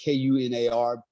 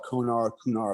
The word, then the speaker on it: Kunar: northeast province of Afghanistan, called the Kunar River, because it's pronounced Kunar. Some people call it Kunar, whatever you want to call it.